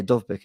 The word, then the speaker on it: Dovbyk: Yeah, Dovbyk is how you pronounce it.